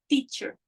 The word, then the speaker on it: teacher: A língua, ela encosta no palato, que é aqui, ó, atrás da língua.